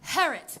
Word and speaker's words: Harriet: Oh, Harriet King. It rhymes with parrot. I'm sorry? It's pronounced Harriet. The I is silent.